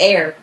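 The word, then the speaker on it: Aire: but before that they changed it to air, pronounced like air. A I r e. But you pronounce it like air. Like like when like when we breathe it like what?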